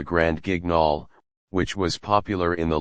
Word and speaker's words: Grand Guignol: Grand Guignol is pronounced Grand Guignol. It comes from a famous horror theater in Paris called Le Grand Guignol, which was popular in the late 1800s and early 1900s.